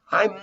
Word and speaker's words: I'm: be no i'm not you're making a contraction between i am you say i'm not on vacation and you join together your two lips together i'm not instead of